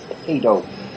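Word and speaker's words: paedo: at the bud by correctly pronouncing the word pedo like Pediatrics not pediatric it's p a e not p d okay and ran the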